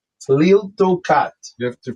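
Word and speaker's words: Tliltocatl: Tiltocat. So like Tlilt, T-L-I. Tiltocat.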